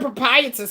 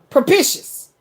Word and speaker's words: propitious: Am I saying this right? Propitious. I said it wrong. It's propitious.